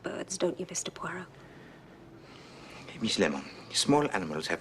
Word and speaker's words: Poirot: a par with Mr poot no no no no pu it is pronounced pu I'll beg a pardon